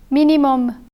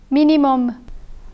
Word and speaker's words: minimum: Minimum, non. Minimum, non. The M in minimum is pronounced, but the M in non is silent.